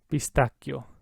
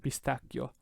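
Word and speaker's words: pistacchio: this third word pistachio pistachio double c hold it out twice as long the h is there so it keeps the hard cut sound pistachio all right let's move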